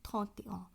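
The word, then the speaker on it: trente et un: এই বিষয়টি একটু মাথায় রাখতে হবে যে শুধুমাত্র 21, 31 নয়, 41, 51, 61 এই সংখ্যাগুলির ক্ষেত্রেও মূল সংখ্যার সাথে যুক্তভাবে সংখ্যাটির উচ্চারণ হয়। অর্থাৎ ভতে অ, থতে অ, ক্যাহতে অ এইভাবে উচ্চারণ হবে।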